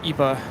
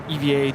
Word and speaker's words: EVA: said to Kevin regarding the whole Eva Eva debate what what does ATC say call sign you said Eva it's Eva that's their call sign I don't know but I do remember zinon saying they it's said both ways I mean he's from